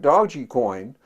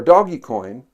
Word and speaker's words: Dogecoin: a coin a cryptocurrency like dodgy coin or doggy coin dodge dogecoin depending on how you pronounce it but spelled d-o-g-e-c-o-i-n it was issued as